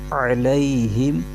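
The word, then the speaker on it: عَلَيْهِمْ: کے ساتھ ملائیں گے۔ اس کے ہجے یوں کریں گے، عین زبر ع، لام یا زبر لی، علی، ہا میم زیر ہم، علیہم۔ آگے واو پر زبر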